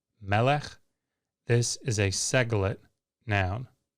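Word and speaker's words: מֶלֶךְ: Segolate nouns are characterized by the pattern with the accent on the first syllable. So a word that we see all the time that follows this pattern is melech, melech.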